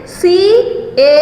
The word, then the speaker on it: caught: It is C-A-U-G-H-T and the pronunciation is again surprising. The pronunciation is caught. Pronunciation is caught. C-A-U-G-H-T, caught.